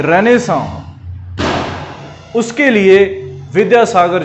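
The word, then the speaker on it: renaissance: तीसरी चीज, बंगाल की रेनेसां, उसके लिए विद्यासागर जी का नाम सबसे अव्वल है। कैसे, बंगाल की रेनेसां, जिसको आप रेनाइसेंस कहते हैं, ये रेनेसां होता है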